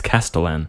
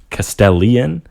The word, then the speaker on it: castellan: sure it's typed correctly oh but you pronounce it castellian it's and you said pro council when it's proconsul yeah no i legitimately